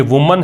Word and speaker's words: women: ये मैन है, ये मेन है, ये मेन है, ठीक है, और ये वुमन है, ये विमिन है।